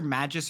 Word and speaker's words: Magus: is it Magus or Magis or how do you say this name? Because you've said it twice and I've heard people say a bunch of names. Magis. Okay. Like a mage.